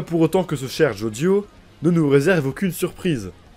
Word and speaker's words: Jodio: ça m'a instantanément convaincu jodio se prononce de la même manière que Jojo en japonais Jojo avec un petit